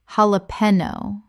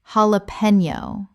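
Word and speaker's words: jalapeño: Common mispronunciation. Jalapeno. Correct pronunciation. Jalapeno. The J makes an H sound in Spanish and the N Y makes a knee sound.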